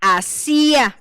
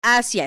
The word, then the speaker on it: hacia: Entonces, no dice asía porque no es del verbo hacer, es ascia.